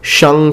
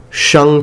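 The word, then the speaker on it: 商: The following dynasty is the Shang Chao, Shang Chao. Please notice that the G is not pronounced in Chinese when it follows an N.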